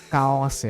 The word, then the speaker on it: Chaos: ド Kaos ya bacanya dia.